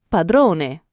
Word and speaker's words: padrone: Padrone, padrone. Non padrone come in inglese, ma con la o chiusa. Padrone.